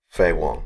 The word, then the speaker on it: Faye Wong: And then we have Faye Wong, if I pronounce that at all correctly. Faye Wong. Faye Wong, thank you.